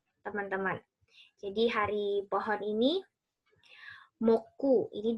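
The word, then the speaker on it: 木: Jadi hari pohon ini moku, ini dibacanya moku, teman-teman ya. Mokuyobi.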